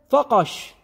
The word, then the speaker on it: فقش: اخر شيء اللي هي فقش بعميتنا ننطقها بالقاف التميميميه قاف وعلى فكره كذلك كلمه